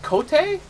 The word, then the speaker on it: Kote: Is it Kote or is it Cote? No, it's Kote.